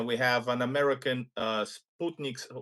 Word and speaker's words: Sputnik: We have an American uh Sputnik or as Americans say, Sputnik uh as a guest straight from Kazan, right?